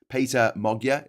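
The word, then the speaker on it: Péter Magyar: of people supported uh Mogia um uh um Peter Mogia is the correct way to pronounce his name according to the Googles.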